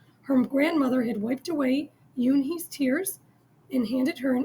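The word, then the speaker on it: Unhei: "Une?" the girl asked, scrunching up her face. "Ooh, Une," some kids chanted. No, Yoon-hee corrected. It's spelled U-N-H-E-I. It's pronounced Yoon-hee.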